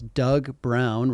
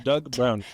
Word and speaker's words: Doug Brown: Today we have with us Doug Brown, right? Did I say that right? You said that right. It's two sounds, Doug Brown.